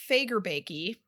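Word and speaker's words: Fagerbakke: sponsor special effects makeup yeah and then Bill fager baky uh is that how you say it yes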